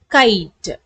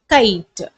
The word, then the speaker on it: kite: if I add e at the end the pronunciation becomes c i t kite so the Wubble we have to say its name longer c i t kite the next word if it is a three-letter